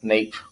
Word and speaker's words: neap: their fullest um and they're called neap not neat tides they're neat tides it's spelled with a p um is where it